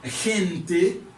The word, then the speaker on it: gente: catégorie, côté moi, lettre G qui combiné avec E et puis I. Là, les vins gagnent un son, li égal, égaux avec le son Jota. Jota. Là, moi, gagne, li prononcé comme gente.